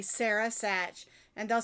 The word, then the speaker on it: Sach: and i'll say sarah sach and they'll say how do you spell that and i'll say s-a-r-a and they're like no no your last name i'm like oh s-a-c-h satch like patch i don't know why